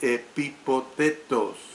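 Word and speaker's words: ἐπιπόθητος: La palabra griega que se traduce por deseados es una forma de epipotetos. Repito, es una forma de epipotetos con H intercalada.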